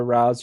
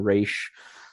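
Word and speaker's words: Ra's: past but I think if you were going with the actual Arabic pronunciation of the name it probably is closer to Raz or Raz but uh the person who created the character or the writer who created the character along with Neil Adams the artist Denny O'Neal always called him re uh and that's where I believe the the producers and people that worked on this show got that pronunciation so I'll go with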